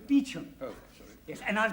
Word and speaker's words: Beauchamp: Call him Mr. Beauchamp. Calling Mr. Beauchamp. Mr. Beauchamp has been employed by the following firm. It's pronounced Beecham.